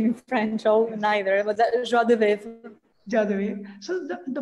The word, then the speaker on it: joie de vivre: I don't have the best pronunciation in French neither, but joie de vivre.